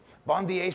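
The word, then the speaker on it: Bondye: chance god is good bond eh a bond is how you say it in Haitian Creole god is good yep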